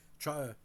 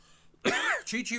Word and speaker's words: Chi-Chi: aided by Johnny Fever when he said this, Chai Rodriguez, and Howard Hesseman's character Johnny Fever said Chichi Rodriguez.